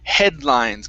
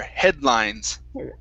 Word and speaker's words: headlines: And the last one for you is headlines. Give me a good L there. Headlines. Headlines. Okay, one more time. Headlines. Headlines. Headlines. Yes, good. Yeah, so it's half of the D sound, then into the L.